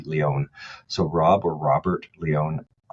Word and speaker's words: Lion: LinkedIn, look up Rob, and the last name is spelt like lion, Lion, but it's actually Leon.